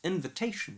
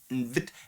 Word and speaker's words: invitation: It's invitation, right? Where we have got little stress on the in and big stress on the t. And she does it completely different. She says invit.